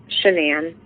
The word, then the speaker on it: Shanann: Sh- It's Shannan.